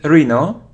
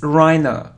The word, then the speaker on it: rhino: draft sin colic produce next so it isn't Reno it's Rhino rhina it isn't Tom it isn't Tom it's